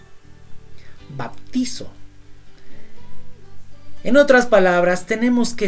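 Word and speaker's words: βαπτίζω: En el griego, ¿cómo se dice sumergir? Se dice bautizo. Sí. Baptizo.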